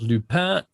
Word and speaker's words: Lupin: Also, the next season of Lupin, that's how you pronounce it, is also online by now.